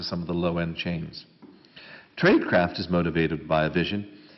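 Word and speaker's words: Traidcraft: a second example from a very different field tradecraft and I'll just spell that for those of you trade t r a i d craft CFT tradecraft is a christian-based organization committed to using trade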